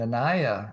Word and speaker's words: Anaya: And remember, if you can't remember, it just rhymes with papaya.